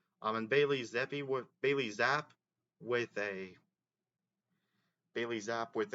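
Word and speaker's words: Zappe: um bayy zap well Bailey zap that was how he pronounced his name okay I thought it was Zippy but it was zap um completed 69 of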